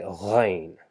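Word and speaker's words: غين: So it's just same as ain, but instead of saying ain, we say ghain, ghain, ghain.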